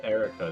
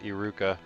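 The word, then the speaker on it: Eruca: what did what that's erica that's how they're pronouncing it in the game right yeah and definitely not iruka that was her name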